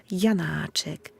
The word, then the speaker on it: Janáček: et qui sont courtes son nom lui même est déjà de la musique jan hajek vous avez cet appui qui devient un élan sur la première syllabe vous avez une voyelle longue et le reste n'est